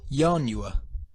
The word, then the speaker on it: ianua: If we pronounce the first I as a vowel, the word is 4 syllables, ianua. It's only a small step from saying the 4-syllable ianua to saying the 3-syllable yanua. Ianua, yanua.